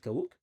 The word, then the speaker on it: Kawooq: Y de dónde viene Kawuck. Se pronuncia así. Kaw. Kaw. Kaw. Como se escribe y de dónde proviene? Bien interesante, ¿no? Kawok es un una energía del sol.